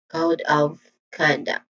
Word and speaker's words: code of conduct: Next is conduct, which is a two distinct sounds, two syllables. So next, first is con, which has a short O sound, and then duct. Again, duct, which also has a short sound. So the stressed syllable here is code and con. So we say it as code of conduct.